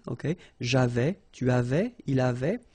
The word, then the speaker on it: avaient: J'avais, tu avais, il avait. And then you saw probably that we've got also here A-V-A-I-E-N-T, but then you pronounce it avait. So the same way as we pronounce here, okay?